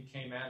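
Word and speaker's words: Cayman: by the way yes they actually pronounce it in kayman they actually say kayman so I'm not sure if it'll impress people or not but they don't say Cay but everybody says it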